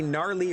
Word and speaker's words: Gnarly: Presented as it is by the GWA, the Gnarly Wrestling Aisle. That's right, the only fictional pro wrestling promotion with 3 silent letters making up its acronym.